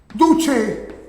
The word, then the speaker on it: duce: Y así era llamado en italiano, duche. Se escribe duce. Ya sabes que la C en italiano es che, por eso duche.